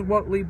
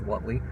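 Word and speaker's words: Whateley: had to look up how that name is pronounced. I thought it was Whatley, but I wasn't sure. It is Whatley.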